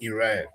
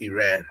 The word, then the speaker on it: Iran: People can say Iran, but that country is pronounced Iran because I've talked to Iranian. I asked them what is the name of the country. They say Iran. They didn't say Iran.